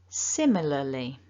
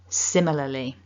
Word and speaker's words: similarly: say this out loud, similarly. And a bit quicker, similarly. So if you find it difficult to get both of those L sounds in for similarly, so lily, don't worry, practice makes perfect, I think, with this sound.